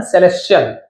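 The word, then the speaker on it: celestial: सेलेस्टियल यहां पे टीएल नहीं पढ़ेंगे। च है ना सेलेस्टियल।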